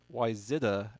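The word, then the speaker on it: Wayzata: Cabal with the message, it's pronounced Wyzetta, actually, and as a Wyzetta grad, I very much disagree with that.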